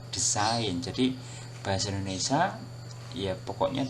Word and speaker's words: desain: Ya, kemudian berikutnya kata desain ya, dalam bahasa Inggris yang dilafalkan dalam bahasa Inggris pelafalannya design, ya. Kemudian diserap ke dalam bahasa Indonesia, tulisannya disesuaikan, desain, ya, desain, ya. Yang dilafalkan juga desain.